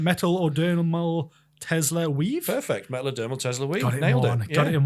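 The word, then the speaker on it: Metadermal: certainly can I'm going to absolutely butcher the pronunciation of this um metal oral Tesla weave perfect metad dermal Tesla weave got it in one so this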